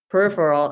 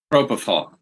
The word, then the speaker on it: propofol: what the surgery was, but they gave him peripheral. Is that how you say it? Propofol? Propofol.